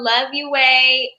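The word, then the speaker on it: Loveyueh: people before we roll follow love you way l-o-v-e-y-u-e-h that's how you pronounce my middle name um love you way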